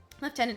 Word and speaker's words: lieutenant: your system that's crazy left tenant oh those British people making a pronunciations I know where did the F come from why is does